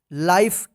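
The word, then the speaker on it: life: नहीं पढ़ेंगे या लीफ नहीं पढ़ेंगे क्या पढ़ेंगे लाइफ क्योंकि यहां पर जो है ना ई जो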